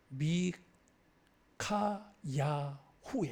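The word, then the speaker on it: 미카야후: 원래 히브리어로 발음을 말하면은 미 카야후에 얘기해요.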